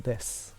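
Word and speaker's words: です: on des gets mostly chopped off. It's almost silent. So in my case, I would say, watashi wa Kitsuneko desu.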